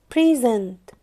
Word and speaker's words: present: present كverb نطقها present present.